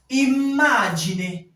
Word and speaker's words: immagine: Lorsqu'on arrive dans un mot, au niveau où il y a la double consonne, la prononciation s'étire. Parfois, ce n'est pas très perceptible. Parfois, ce n'est pas très perceptible, mais ça s'étire. Mamma. Mamma. Immagine. On n'est pas imagine, non. C'est pas imagine, c'est imagine. Donc, le fait qu'il y ait les deux M ici, ça rend la prononciation à ce niveau plus étirée.